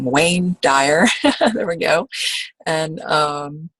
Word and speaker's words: Wayne Dyer: Duane or waned walk i always say his name wrong wayne dyer there we go and um welcome Herron to